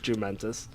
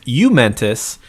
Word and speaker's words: jumentous: for the definition of jumentus yeah well knowing dave he screwed up the pronunciation it's actually a soft j and it's you mentis and it's just basically